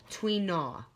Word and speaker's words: Tui na: traditional Chinese medicine massage technique called tween ah okay it's spelled tu I and a tweet na now it literally means